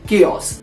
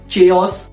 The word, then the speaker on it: chaos: तो इस वर्ड का सही प्रोनाउंसिएशन है केओस। लेकिन बहुत बार लोगों को ये चीज नहीं पता होती और लोग उसको प्रोनाउंस करते हैं चेओस या कुछ लोग बोलते